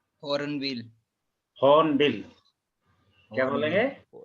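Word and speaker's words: Hornbill: रहे हैं हर्न बिल होन बिल क्या बोलेंगे न बिल बिल आर इज आर की जगह छोड़नी है आर को प्रोनाउंस नहीं करना है तो क्या बनेगा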